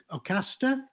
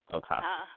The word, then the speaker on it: Ocasta: Well, then we're deciding it's Ocasta. I assume it's like O and then rhymes with pasta. So, Ocasta.